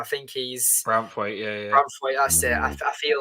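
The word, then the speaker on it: Branthwaite: Is that how you pronounce his name? I think he's Braithwaite. Yeah. Braithwaite, that's it.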